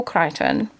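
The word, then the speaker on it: Crichton: Uh I think in January at the beginning of this year I have read the Andromeda strain by Michael Kryton. Notice how beautifully I pronounced his name.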